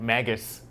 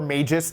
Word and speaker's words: Magus: Yeah, and in that game, I would definitely count Magus or Magus, depending on your pronunciation.